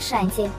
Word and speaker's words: Шанти: выглядит старше и ее зовут шанти ударение на первом слоге и она в свою